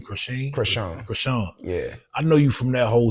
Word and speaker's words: Chrisean: That's how you pronounce her name, Chrisean? Chrisean.